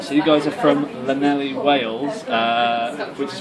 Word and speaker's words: Llanelli: So you guys are from Llanelli, Wales, which is pronounced Llanelli.